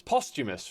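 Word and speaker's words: posthumous: to say was the word Prometheus, but it's posthamous, right? Or poostumous. Postumous, right?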